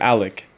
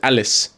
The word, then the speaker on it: Alec: So, be it for one, he never pronounced my name Alec. It was always Alice.